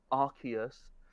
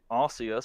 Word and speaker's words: Arceus: but they changed it Arceus it's apparently Arceus sounds too much like you're saying ass that's an actual thing they changed the official pronunciation because it sounded too much like the word ass and let's be real